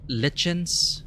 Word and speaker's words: lichen: The Eastway Road surely minimized this godstone's visitors, allowing lichens... I keep forgetting how to pronounce lichen. Lichen. It's a lie. Lie. Lichen. The Eastway Road surely minimized this godstone's visitors, allowing lichens and ivies to encase it.